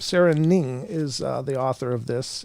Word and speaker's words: Ng: I don't know how to pronounce that for sure. Ning? Okay. Yep. Sarah Ning is the author of this, and she's apparently a writer.